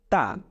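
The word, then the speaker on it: ت: নুক্তা এটাকে আমরা বলছি তা ব্যাস জিউভার আগাটাকে আপনি আপনার মাড়ির দাঁতের উপরের সাথে লাগিয়ে দিন উচ্চারণ করুন তা খুব সহজ এরপরে তিন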